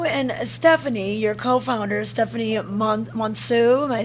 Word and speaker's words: Monseu: And when you and Stephanie, your co-founder, Stephanie Monseu, am I saying it right? Monseu, yep. Monseu.